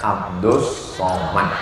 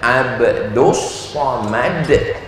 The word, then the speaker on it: Abdul Somad: Namanya Abdus Somad. Tulisannya Abdul Somad. Tapi cara bacanya Abdus Somad.